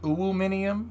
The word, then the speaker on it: aluminium: It's pronounced aluminium.